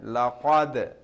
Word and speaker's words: laqad: So lam, so over here we have qalqala, dal has sukun, that's why laqad, jerking sound, echoing sound.